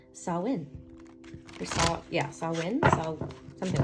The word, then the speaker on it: Samhain: I just learned that it's pronounced Samhain.